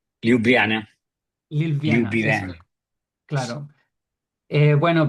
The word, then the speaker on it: Ljubljana: ¿Cómo se pronuncia? Ljubljana, Ljubljana, eso, Ljubljana.